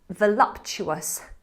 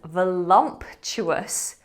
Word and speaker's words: voluptuous: Okay, that final word, the one that I love, is voluptuous.